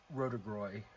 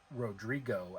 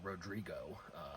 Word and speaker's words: Rodrigo: Got the Stellus Rotigroy, or Rodrigo, as I think I saw it actually pronounced, or the proper pronunciation of it being Rodrigo.